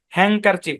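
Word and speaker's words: handkerchief: ফালাবেন ব্যাপারটা ওরকমও না এন এবং কে মিলে হ্যাংকার হ্যাংক এ উচ্চারণ আসবে হ্যাংকার চিফ আর ডি তো সাইলেন্ট এটাই ব্যাখ্যা এরপরে কোন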